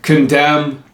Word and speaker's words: condemn: Condemn. There's other words, but that's just an example. When you put the M and the N, it's not pronounced like an N, it's pronounced like an M.